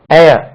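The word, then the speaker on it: heir: இனி ஒன்னு சொல்றேன் பாருங்க இப்படி ஒரு வேர்ட் இருக்கு எச் இ ஐ R Waris அவருக்கு யார் வாரிசு ஏர் இதே உச்சரிப்பு காத்துக்கு உச்சரிப்புக்கு தான் ஏர் இதுல ஒரு சின்ன பாருங்க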